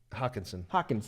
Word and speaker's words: Hockenson: Hockenson. That's right. I always fuck up his last name. They're both gonna be first round guys. They both can be first round guys, but top 20. T.J. Hockenson is by far the most ready.